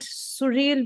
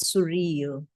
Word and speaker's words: surreal: So the word sural was used in a speech. The correct pronunciation of this word is surreal.